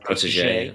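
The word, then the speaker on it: protégé: Protege? Yeah, protege.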